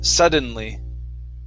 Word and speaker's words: suddenly: suddenly right here sudden suddenly sunderland sunderland okay one more time there is not an n before the d you're trying to say